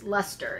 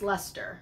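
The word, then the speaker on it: Leicester: bfl is blue face luster is how it is actually pronounced it's spelled l-e-i-c-e-s-t-e-r uh but it's actually pronounced luster from everything that i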